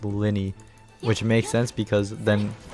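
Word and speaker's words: Lyney: me that uh well i was calling the character liney but in french it would be pronounced linny which makes sense because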